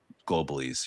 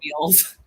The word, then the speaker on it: globules: popping any of those any of those um globulies here, you know. Globulies? Globulies. How do you How do you say it? What What are they called? Globules.